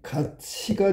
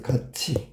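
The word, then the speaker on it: 같이: 근데 얘는 자 보세요. 발음해 봤더니 가치가 돼 버렸어. 가치. 어 앞말에 받침 티이 2하고 만나 가지고 치웃이 됐네.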